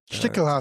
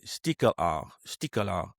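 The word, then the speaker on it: Stichelhaar: Let me pronounce it right. Stickelhaar sounds about right.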